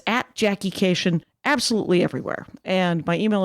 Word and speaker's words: Kashian: How are you pronouncing our last name? Kashian, always Kashian.